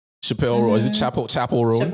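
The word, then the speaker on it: Chappell Roan: Chapel Ron I think is how you pronounce Chapel.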